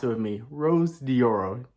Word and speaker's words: Rose Dioro: me being the dummy that I am is Rose dioro not Rosie Oreo so it's Rose dioro let's pronounce it with me Rose dioro not Rose diorio now let's continue on with the interview first